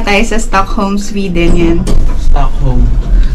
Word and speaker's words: Stockholm: sa Stockholm Sweden yan stock home stock home silent silent L mga finish ano tuk